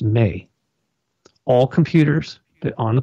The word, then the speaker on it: me: tablets of destiny it was spelled em e pronounced Mae all computers that on the planet right now